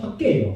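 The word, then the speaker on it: חגי: 하가이가 어 학계예요. 학계 이스라엘식 발음이에요.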